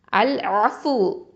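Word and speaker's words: العفو: அதே மாதிரி அல் ஆஃபு, அல் ஐன்னு வந்திருக்கு பாருங்க. ஓகே, அல் ஆஃபு, அல் ஆஃபு அப்படின்னா மன்னிப்பவன், பாவங்களை அழிக்கக்கூடியவன்.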